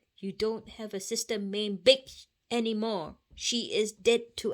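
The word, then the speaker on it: Bich: that's a bad word you might look at this name and you might think oh how am i supposed to pronounce b-i-c-h again it's big okay my parents escaped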